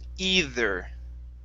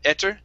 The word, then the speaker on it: either: Next up, this word here is pronounced either. Okay, either. There you go. One more time. And you can say either, okay, but you had said etter. Okay, so yes, we do need to pronounce the TH.